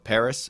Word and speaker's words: Pvris: She toured with a band called Paris. It's spelled Pvris.